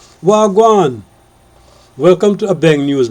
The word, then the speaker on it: wha gwaan: Canadian colleague asked me how to properly say wha gwaan and so I explained to her the proper Jamaican three silver pronunciation wagwan in 2019 an Indian